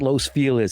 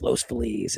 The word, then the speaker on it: Los Feliz: It's Los Feliz, not Los Feliz. It's Los Feliz. It's just Felix Navidad.